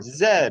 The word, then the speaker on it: zero: Sup- Zero, no van a Zup. decir cero, porque cero es en español. Zero. Zero, así.